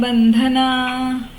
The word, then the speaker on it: बंधनः: बंधनः बंधनः ये विसर्ग, 'ना' के बाद आने वाले दो बिंदुओं की तरह , विसर्ग कहलाते हैं, और जब ये विसर्ग आते हैं, तो इनका उच्चारण एक लंबे स्वर के रूप में किया जाता है; इन्हें मीटर कहते हैं, है ना? तो, लंबे स्वर में इसका उच्चारण 'नाह ' होना चाहिए, ठीक है?